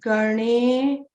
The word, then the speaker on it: Ganesha: It is Ganesha.